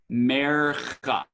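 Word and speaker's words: מֵרְכָא: And this is how you pronounce the name of the symbol. Mercha.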